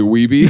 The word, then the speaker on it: Wiebe: WIEBE. Yeah. There were my neighbors growing up. Their last name was Reebe. And it was spelled that? RIEBE. So this is Weeby? So this is them if they couldn't pronounce their R's.